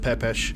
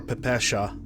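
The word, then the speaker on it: ППШ: put a couple yeah ppsh it's pronounced pepesh or pepesha if you want to be even more precise about it right and you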